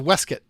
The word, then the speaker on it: waistcoat: have a Miskin release waistcoat whiskey you pronounce it as a weskit commitment to thou shalt